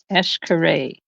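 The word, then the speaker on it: Xcaret: week you can Google eshare so x x c a r e t it's written X Kay but it's pronounced s Kay and you'll be able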